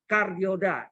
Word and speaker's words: kardioda: Ini yang mungkin Anda kenal dengan nama kardioda. Saya terangkan sedikit ya. Kardiod. Disingkat bacanya kardiod, tulisannya kardioda. Jadi gambarnya gini.